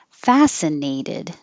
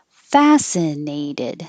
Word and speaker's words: fascinated: gentlemen it's always plural fascinated this is fascinated the neigh gets a little longer because it's secondary stress and secondary stress gets longer but not higher fascinated fascinated focusing